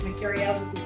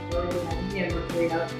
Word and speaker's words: Mercurio: I won't pronounce it like it should be. I'm pronouncing it for the US and Canadian audience. So it's like the planet, Mercurio, Mercurio. It's not Mercurio, you don't have to say it that way.